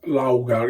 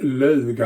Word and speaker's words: Laugar: why uh logo sweden it doesn't pronounce laughter it's lager i'm actually the only one that's pronounced that right you know all the